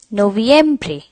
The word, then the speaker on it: noviembre: month of the year is November which is pronounced as noviembre you need to stress a bit at the